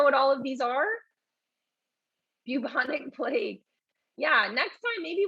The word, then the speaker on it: bubonic: plague okay so you should be pronouncing it the uh bu like as if there's a y after bubonic okay that is the